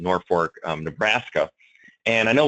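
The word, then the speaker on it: Norfolk: in uh Norfork um or as they pronounce it Norfork um Nebraska and I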